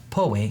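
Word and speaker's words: Poway: Springs right next to Powe or Poe as it was originally pronounced and number six is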